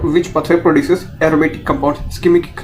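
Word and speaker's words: shikimic: Pathway produces aromatic compound, ischemic, है ना, वो स्कीमिक नहीं, सिकिमिक, है ना, इसकी प्रोनाउंसिएशन थोड़ी सी डिफरेंट है, सिकिमिक, है ना, इसको बोलेंगे ऐसा थोड़ा।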